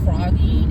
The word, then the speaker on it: phrogging: It might be on YouTube now, but it's called frogging, and it's spelled PHROGGING, frogging, PH with the PH.